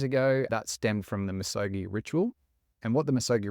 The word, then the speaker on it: Misogi: I going to say it right is it misogi close okay and that's part of the reason why we've gone for this name is because it's pronounced misogi but if you think Nike Nike Adidas Adidas